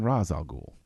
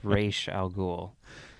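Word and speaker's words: Ra's al Ghul: very good movie now you mean raal ghoul though um if you want to pronounce it like Christopher Nolan does but if you want to pronounce it the correct way as established I think prior to the Animated Series but on the Animated Series it's re Al goul I don't know okay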